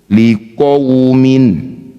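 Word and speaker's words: لِقَوْمٍ: Wau sukunnya baca lembut. Bagaimana caranya? Berikan huruf vokal u ketika baca wau sukun. Liquumin lembut. Tidak ada lemahnya. Bukan lemah lembut. Kalau lemah lembut liqaumin.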